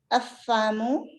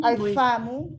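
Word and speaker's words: الفم: Afamu. Afamu. Not It's afamu. We will read lam here because lam has sukoon. Alfamu.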